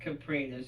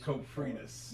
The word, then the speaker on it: Coprinus: I remember you putting emphasis on the second part, and you were like Caprinus. Coprinus, yes.